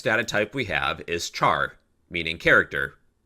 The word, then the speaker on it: char: Okay, then the next data type we have is char, meaning character. Char pronounced like the word Charizard.